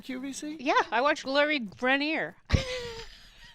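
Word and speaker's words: Greiner: knows I do Gloria grineer Lori yes it's Griner apparently no that's not how they pronounce it on QVC well on Shark Tank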